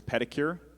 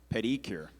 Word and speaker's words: pedicure: Estella, your word is pedicure. It can also be pronounced pedicure.